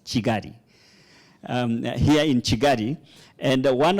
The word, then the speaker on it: Kigali: We pronounce it, Honorable Minister, we pronounce it as Kigali, but I understand it should be pronounced as Chigari.